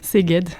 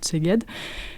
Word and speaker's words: Szeged: Vous laissez vos vélos dans une ville dont je te laisserai la prononciation. Szeged.